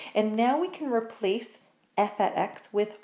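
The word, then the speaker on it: f(x): And what that's actually pronounced as is F at x. So this f with an x beside it is not actually f times x, it's called f at x.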